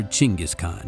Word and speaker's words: Chinggis Khan: heard at least once Genghis Khan or chingus Khan if you're going for what is apparently a slightly more accurate pronunciation in the following decades